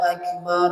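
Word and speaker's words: أكبر: Huruf Kaf Kaf ya huruf Kaf pengucapannya adalah ada udara yang keluar ada udara ya Ada udara yang keluar ya Ak bisa dicat ak ak ak harus ada udara yang keluar Allahu akbar ak ak ya Allahu Akbar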